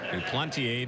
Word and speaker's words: Duplantier: Spells his last name D-U-P-L-A-N-T-I-E-R. Pronounced Duplantier.